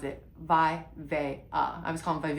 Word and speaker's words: VIVAIA: VIVAIA, and I did look it up, that's how you pronounce it, VIVAIA. I was calling it Vivvia.